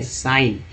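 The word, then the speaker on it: sign: तो बोलते हैं, तो सिग्न थोड़ी पढ़ेंगे, साइन, ठीक है, लेकिन अभी सिग्नेचर रहता तब तो सिग्न को सिग जी को ग ही उच्चारण वहाँ करते हैं सिग्नेचर में।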